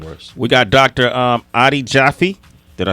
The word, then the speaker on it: Jaffe: So Adi is an old biblical word for jewel in Hebrew, and then Jaffe is actually pronounced Jaffe in Hebrew.